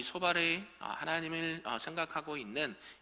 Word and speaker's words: 소발: 발음을 잘해야 됩니다. 소발.